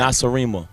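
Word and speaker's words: Nacirema: And how do you pronounce that? Nasarima.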